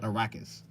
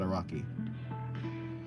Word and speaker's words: Araki: I guess I'll just say Araki. Like Arrakis. Okay, not Arrakis. but Araki. Because I guess Japanese has like soft A's, right? So it'd be Araki.